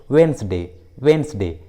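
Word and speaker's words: Wednesday: उसी तरह डॉज, वहीं कुछ कॉमन इंग्लिश वर्ड्स में डी का उच्चारण नहीं किया जाता, जैसे वेंसडे, हैंकचीफ, हैंडसम।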